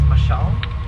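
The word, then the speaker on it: Mashaal: If you want to mention your staff's names, my name is Mashal. It's spelled M-A-S-H-A-A-L. So that's M-A-S-H-A-A-L.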